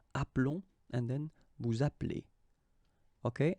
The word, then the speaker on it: appelons: keep only one L, so that's the reason why you will get the sound appelons, okay? This E is mute or silent, appelons, and then vous appelez.